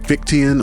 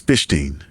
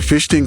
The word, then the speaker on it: Fichtean: Although online I see people pronouncing it Fichtean or Fichtean, because its namesake is German, I believe the correct pronunciation is Fichtean.